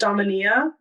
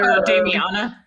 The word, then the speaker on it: Damiana: I also I think it's pronounced Daminia. Daminia. I don't know. It's another. Damiana. Damiana.